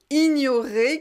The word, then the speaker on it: ignorer: Surtout, il ne faut pas prononcer gne. Non, ça c'est pas bon. En français, c'est ni.